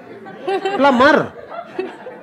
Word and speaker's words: plumber: We will call it Dumbh We will call it Thumbh Like plumber. In our country everyone pronounce it as Plumber. But that's okay. What's the fuss even if the 'b' is silent.